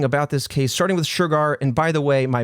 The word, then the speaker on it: Shergar: Just know that indie boy is trying to say Shergar, and that's how it's said.